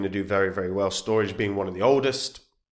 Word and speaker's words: Storj: storage they want it to be pronounced storage but I will never do that storge so um decentralized physical